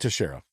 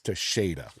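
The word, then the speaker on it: Teixeira: It's not to Sher, it's to Shada.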